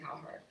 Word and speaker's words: Cowherd: He is So Serena loves Colin Cowherd.